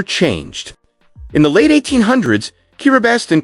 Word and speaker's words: Kiribati: Its name, Kiribati, is the local pronunciation of Gilbert's reclaimed legacy spoken in island rhythm.